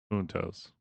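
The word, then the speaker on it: juntos: Huntos. Write down huntos means together in Spanish. In Spanish. It's spelled j u n t os.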